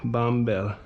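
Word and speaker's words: Bąbel: The other one is called Babel. But English pronunciation would be something like Bombel. Oh, nice. Is it Polish for something? Babel. Babel. Babel? Not Babel, like the Tower of Babel. Bombel.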